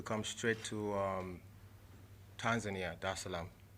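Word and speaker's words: Dar es Salaam: straight to um tanzania da salaam did i pronounce that right yeah okay cool there is salam okay it's a beautiful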